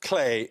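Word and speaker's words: Klee: It's usually pronounced clay.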